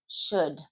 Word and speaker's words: should: Could, should, would, could. That L is non existent, and you really don't pronounce the O either.